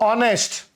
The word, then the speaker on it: honest: I'm using now honest. Here H is silent and A.